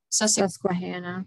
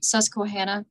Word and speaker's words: Susquehanna: this is a county i always have issues pronouncing sesame squad susquehanna yeah thank you um pennsylvania and she died